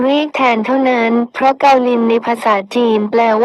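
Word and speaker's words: kaolin: ใช้ คำ ว่า คาโอลิน ซึ่ง คน ส่วน ใหญ่ จะ อ่าน ออก เสียง เป็น คาโอลิน แต่ จริง ๆ แล้ว คำ นี้ เป็น การ เขียน ทัพ ศัพท์ ใน ภาษา จีน ให้ อ่าน เป็น เกาลิน เหมือน กัน คำ ว่า เกาลิน นี้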